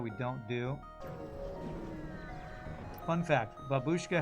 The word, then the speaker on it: babushka: Fun fact, babushka has emphasis on the first syllable.